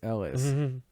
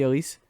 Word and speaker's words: Ellis: Elise. Ellis. It's really Elise? Yeah. All right. Well, good thing you shouted that out before I started calling it Ellis. Well, it's spelled Ellis, but It is spelled Ellis.